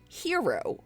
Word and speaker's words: Hxro: founder and president of hero which is spelled hxro and he is rob levy